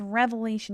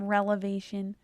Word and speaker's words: revelation: It's revelation, not relevation.